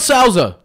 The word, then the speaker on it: Souza: It's spelled Souza.